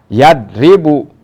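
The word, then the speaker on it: يَضْرِبُ: kemasukkan apa-apa di awalnya jadi kosong belum apa-apa berarti dibacanya yadribu Nah kalau ini nah yadribu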